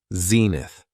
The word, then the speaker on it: zenith: next noun is Zenith it has two syllables and the stress is on the first syllable Zenith when talking about the